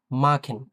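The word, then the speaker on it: machen: না তাই না বা মাসেন হচ্ছে না এটা হচ্ছে মাখেন হ্যা মাখেন মাখেন মানে খ এর মত একেবারে মাখেন এরপর আসি কোেন কোকেন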